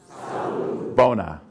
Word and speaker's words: Sawubona: practice out loud the first word is SAU sa Bona Bon sa Bona now turn to your other